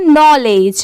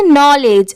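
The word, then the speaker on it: knowledge: पढ़ते हैं amount O एफ ऑफ यह है नॉलेज इसे क्या पढ़ेंगे नॉलेज अब बहुत सारे लोग सोच रहे होंगे कि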